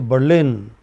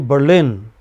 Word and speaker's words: Berlin: You say Berlin. So lin is heard for a long time. A bur is for a very short time, you know?